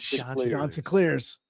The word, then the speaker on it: Chanticleers: If you don't pronounce it Chanticleers, he's going to be very upset. The Chanticleers, not the Chanticleers. Chanticleers.